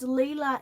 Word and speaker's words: Leela: posted online deb says leela is said like a leia from star wars thanks leia thank you